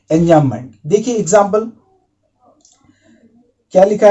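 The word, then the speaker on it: enjambment: Alright, सो यहां पे जो बी लेटर होता है वो साइलेंट रहता है, उसको प्रोनाउंस मत कीजिएगा, एंजाममेंट। तो ये क्या होता है?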